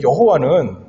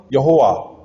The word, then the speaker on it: 여호와: 그음 에다가 붙은 거예요 그래서 자음 여호와 정확한 읽는 법은 모르지만 그것하고 아도나이 모음을 합해서 읽으면 이제 우리가 읽는 여호와가 되는 거예요 그러니까 여호와는 분명히 잘못된 발음인 거 같아요 그럼에도 불구하고 우리는 전통적으로